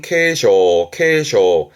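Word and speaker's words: 警鐘: 발음은 케쇼.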